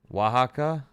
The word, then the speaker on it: Oaxaca: Oaxaca? Damn, I was way off on that pronunciation.